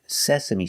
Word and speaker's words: sesame: The first syllable is se, using the e sound like red and bed, se, sa. The second syllable is like up and cut, sesa. And the last is me, like me, and like green beans, sesame.